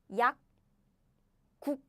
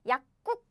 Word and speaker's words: 약국: Second one too is 약국. 약국. It's not 약국. No. 약국.